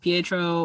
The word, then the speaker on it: Pietro: Maximovs, where they're like, oh, Peter instead of Pietro, or with Colossus, his name is Peter Rasputin.